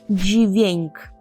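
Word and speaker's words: dźwięk: Так це літера буква е звук - це джвеньк джвеньк я знаю що ви дуже любите польську вимову джвеньк це звук гарно звучить е слово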